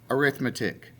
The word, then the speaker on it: arithmetic: Okay, it's pronounced arithmetic. I cannot keep you from saying arithmetic, even though it is. It looks like it says arithmetic. Okay, but it's arithmetic.